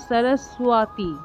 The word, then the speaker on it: সরস্বতী: সরস্ওয়াতি অর্থাৎ এখানে দন্তস্য দন্তস এর উচ্চারণটা সো এর মত অর্থাৎ জিওভ টা দাঁতে